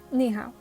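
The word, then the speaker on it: 你好: knee how was written you see above the eye and above the a is the third toe marker so on both syllables you go down and then you go up so the first one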